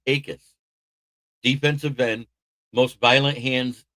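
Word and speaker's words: Jacas: Dave Akis, spelled Jacus, but pronounced Akis, defensive end, most violent hands in the draft in my opinion, out of the University of Illinois.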